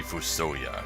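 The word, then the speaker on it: FuSoYa: I never played so some people seem to think it's Fuu so yeah others say it's for Sawyer I'm gonna say foo so yeah I guess that's how they would pronounce it in Japan I am foo soyea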